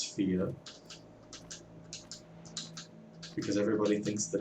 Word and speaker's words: Fe: but it is thea that is the swedish pronunciation for the word fairy i believe and the